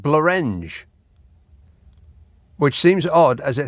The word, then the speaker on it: Blorenge: And Blorenge rhymes with orange. No, it doesn't, unless you're pronouncing it Blorenge. But it's spelled Blorenge. And that looks like Blorenge to me. Because it's got an E after the R, as opposed to an A. And that's crucial in, rhyming.